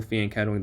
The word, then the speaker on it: fianchettoing: some less serious tournaments, double fianchettoing the bishop, fianchettoing, I believe is how you pronounce it, the bishops, and they go for that here as well.